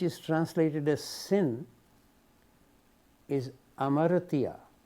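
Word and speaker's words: hamartia: translated as Sin is Amara written with an H but H is not pronounced so it may sound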